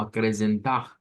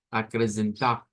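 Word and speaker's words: acrescentar: Una forma de sacar esa R gutural es pensar en la J del español. Entonces la podemos pronunciar como acrecentar, acrecentar.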